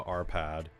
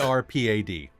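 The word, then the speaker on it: Árpád: that's how you're saying it, because I'm hearing iPad. Arpad. Well, it's ARPAD, so Arpad probably.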